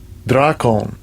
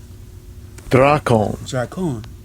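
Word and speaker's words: δράκων: of the word dragon to the pronunciation Strong's G 1404 dracon dracon so he says that you know the Beast spoke as a dragon you know what I'm saying which goes into dracon which is the the Greek pronunciation so try call me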